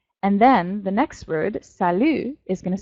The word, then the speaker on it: salut: in comparison okay so sallu a more casual greeting that you might say to friends you don't pronounce the last letter in French usually and mr.